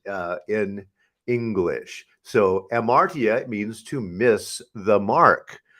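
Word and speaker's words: ἁμαρτία: translated as sin is amartya often it has an h in front of it hamartia but the h is silent uh in english so amartya means to miss the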